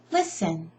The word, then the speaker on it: listen: List in, Sh. T is sh. Listen.